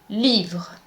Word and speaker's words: livre: You cannot say livrer. The correct pronunciation is livre.